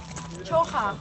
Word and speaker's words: Czocha: How do you say the name of the castle? Yeah. Chocha. Chocha. Chocha. Softer. Can you say it for Richard? Can you say it for the camera? Czocha. Yeah. Chocha.